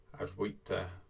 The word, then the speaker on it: Advaita: He talks a lot about non-duality, Advaita. I think the V is pronounced like a W actually, Advaita Vedanta.